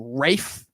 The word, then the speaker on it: Ralph: They pronounce his name Rafe. I'm like, dude, your name is not spelled Rafe.